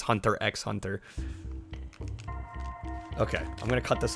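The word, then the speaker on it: Hunter × Hunter: The X is silent because Japan. Is it really? You just say Hunter Hunter, actually? I think I've only ever heard it referred to as Hunter x Hunter.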